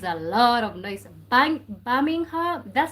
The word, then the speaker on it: Birmingham: Birmingham. That's how you say it. Birmingham.